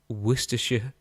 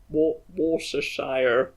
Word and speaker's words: Worcestershire: But having done my research, I'm ready to champion the one, the only Worcestershire sauce.